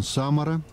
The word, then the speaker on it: Самара: тени рифы смотровая площадка сам ударение на 1 а так вулкан самара с левой стороны вот